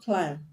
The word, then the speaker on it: climb: ending the word but because the root word the basic word is climb and it ends in mb the b will be silent now let's consider the